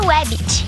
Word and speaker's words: Wabbit: Mas a pronúncia é Webbit, com W.